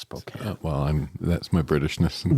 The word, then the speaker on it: Spokane: from Spokane Spokane Washington which is Spokane it's pronounced Spokane well I'm that's my britishness coming out not